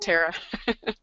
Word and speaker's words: Tara: idiots that's my fault I've been answering to Tara or Tara all my life you know either one works you know I pronounce it Tara Angie fine to that's how you want to